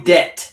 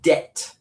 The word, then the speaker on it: debt: Oh, debt. Debt. The B the B is silent. It's like climb.